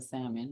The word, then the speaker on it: salmon: I think pronouncing the L in salmon has done that.